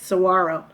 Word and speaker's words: saguaro: third one it's called saguaro scene i know there's a g in there but it's that really is how you pronounce it saguaro saguaro's are the big